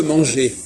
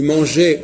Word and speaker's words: manger: entend la consonne et comment ça se fait que quand on dit manger on n'entend pas le r c'est logique parce que